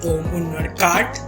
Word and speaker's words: Om Unnadkat: So hello guys, Tanvi Agarwal and Om Unnadkat, I would say. Yeah, you pronounce it right, by the way.